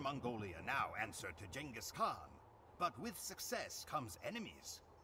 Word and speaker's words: Genghis Khan: with it uh we're gonna continue on our Genghis Khan I said it right that time campaign on